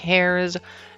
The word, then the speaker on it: heir: You first of all prove that you are, indeed, one of the heirs uh heirs and the heirs. Uh it's spelled with an H, okay?